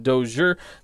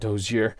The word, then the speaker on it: Dozier: second baseman that's the first time we've seen Dozier not toes here I tried to give him the French pronunciation Brian Dozier he's a